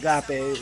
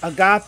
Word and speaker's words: agape: It might be pronounced a little different in actual Greek, but I call it agape, and it's more closer to it if it's not it.